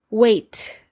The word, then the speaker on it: weight: with four phonetic sounds wait okay w-e-i-g-h-t and there's lots of silent letters in here so wait spelled with